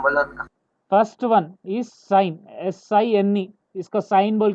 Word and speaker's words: sine: इट इज नॉट सिन बाय द वे. इफ you pronounce it, इट इज एज सिन. Okay. But trigonometry it is pronounced as साइन. Okay. SINE. सो E would be साइलेंट.